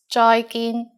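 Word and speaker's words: 再見: like the english bye bye with a cantonese pronunciation bye bye and in formal situations use joy gin joy joy means goodbye finally in cantonese we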